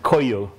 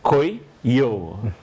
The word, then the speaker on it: Kuiyu: Yeah, that's the way you pronounce it, Kuiyu. The way he was telling me, you're supposed to say Kuiyu.